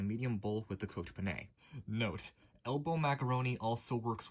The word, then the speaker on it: penne: I recently learned that that is pronounced penne and not peen.